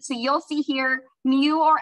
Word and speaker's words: mu: the population symbol is this Greek letter here pronounced mu and that means if we have every single